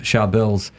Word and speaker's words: Charbel: And it's a common thing, a lot of Charbels, because it's an Arabic or Syriac name specifically, and you say it like this, Charbel, very hard, it's a tongue twister.